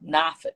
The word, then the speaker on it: Norfolk: Coach Dawson Odom, he's like, no, you don't pronounce the R. Norfolk.